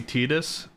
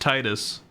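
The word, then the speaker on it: Tidus: named Titus it's pronounced Titus also by the way his name being a play on the water the tides his water weapon Blitz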